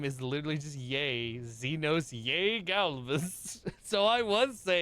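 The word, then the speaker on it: yae: his middle name is literally just Yay, Xenos Yay Galvus.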